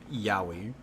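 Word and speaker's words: Yowie: out of the gutter it's not the Japanese yahi that is an unfortunate name for the Australian Bigfoot yoi also a nox it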